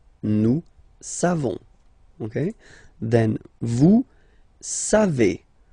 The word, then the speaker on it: savez: Then vous savez. Classic ending for vous, E-Z, but then phonetically it's E. Vous savez. Savez.